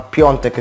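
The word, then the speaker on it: Piątek: appunto il bomber Piontek, scritto Piatek ma Piontek si pronuncia, e poi Kwame, Pandev, Romulo e Criscito.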